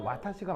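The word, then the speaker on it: わたし: 와따시와 여성은 아다시라고요 원래 원래 표준어는 와타시가 많거든요 와타시가 맞는데 여자 이거는 이제 이건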